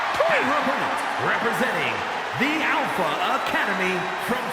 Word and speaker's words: Dupri: Here comes the talented Maxine Dri. Uh, Michael, it's pronounced Drippon representing the Alpha Academy from Phoenix, Arizona, Maxine Dri.